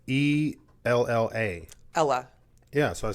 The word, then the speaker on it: Ella: It's E-L-L-A.